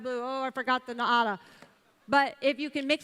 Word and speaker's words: Naara: And by the way, that is how you say it, because in Brazil, they drilled me until I said it correctly. Don't listen to any American that says it's called Naara.